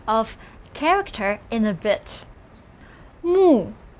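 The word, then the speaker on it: 目: of alternate form of character in a bit mu pronounce with me mu this means i in ancient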